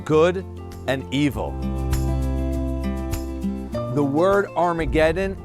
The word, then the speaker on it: Armageddon: The word Armageddon is a bad Greek pronunciation of the Hebrew word Har Maggido, Mount Megiddo.